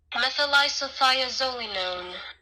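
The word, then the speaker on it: methylisothiazolinone: Methylisophiazolinone. And I'm not going to be able to pronounce it, so... Methylisophiazolinone. It's quite the name. Anyway, so I thought I would play that so you guys could... Methylisophiazolinone.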